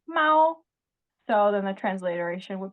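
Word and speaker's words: 猫: But it's pronounced Mao.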